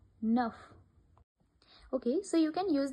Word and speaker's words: neuf: Then the word ends with certain consonants C, R, F, L, then we pronounce them. For example, avec, hiver, neuf.